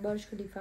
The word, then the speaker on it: Burj Khalifa: अभी Dubai mall और बर्ज खलीफा। बर्ज सब एक ही है, बर्ज खलीफा है। मतलब सब अलग अलग बोलते हैं पर वैसे प्रोनाउंसिएशन बर्ज खलीफा होता है।